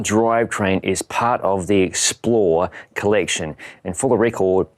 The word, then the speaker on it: XPLR: is part of the XPLR collection. And for the record, XPLR is pronounced XPLR per SRAM.